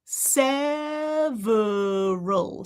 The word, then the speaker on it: several: But you could also do, what else? Sever, ver. We know this one now. Ver. Common kind of combination. What do we have? Teeth and lips. Voicing. What's my tongue doing right now? Nothing. It can already get into place, right? It can already curl. Several. Vr. That's a lot of things to coordinate, though. So if it's difficult for you, pop that schwa right back in there.